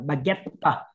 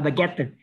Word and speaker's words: baguette: Tiếng Pháp nó không đọc là tờ mà đọc là baguette. Nó đọc rất là rõ là baguette.